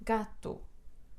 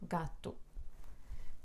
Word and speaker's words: gato: penúltima sílaba carta Oi gato gato última penúltima sílaba gato primo primo um última